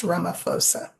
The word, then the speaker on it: Ramaphosa: It's Ramaphosa, pronounced Ramaphosa.